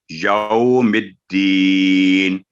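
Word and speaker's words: يوم الدين: واو ایک حرف ہے، تو یو نہیں ہوگا، یوم الدین، تو یہ اس کا صحیح تلفظ ہے۔ آگے ہے ایاکا، یہاں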